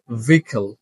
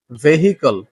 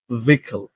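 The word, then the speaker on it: vehicle: ভুলে না যাই সো the first word is ভিকেল ভিকেল যানবাহন যেটাকে আসলে আমরা উচ্চারণ করে বলি ভেহিকেল সঠিক উচ্চারণটা হচ্ছে ভিখল ভিকল second history not history history ঠিক একইভাবে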